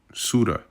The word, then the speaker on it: Ceuta: CEUTA. I've been saying CUETA, but, I think it's actually pronounced CEUTA.